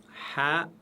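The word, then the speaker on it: ح: Ha, elle se prononce toujours légèrement. On ne dit pas ha en arabe, on dit ha.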